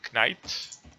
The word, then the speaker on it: Knight: One of them was this thing from Knight. Where the fuck is it? Knight? You mean Knight? Yeah, it starts with a Silent K.